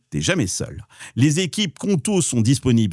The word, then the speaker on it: Qonto: C'est une entreprise sur 5 en France qui se crée aujourd'hui avec Conto et c'est pas un hasard.